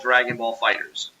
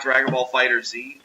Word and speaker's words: Dragon Ball FighterZ: It is called Dragon Ball FighterZ. They have clarified it is not Dragon Ball FighterZ.